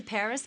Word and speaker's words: Paris: of France live in Paris so this is Paris I can't believe that I've never visited the capital of France before yeah well the locals pronounce it pari karremans conducted a lot